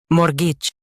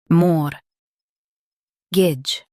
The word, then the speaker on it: mortgage: Mortgage. Stress more and soften gitch. More. Gidge. Mortgage.